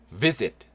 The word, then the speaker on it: visit: Visit. Visit. 방문하다. 네, 발음요. V입니다. V. 입술 살짝 무시고요. V. 요때 S는 Z 발음 나요. Z 발음. Visit이 아니고 visit. Visit.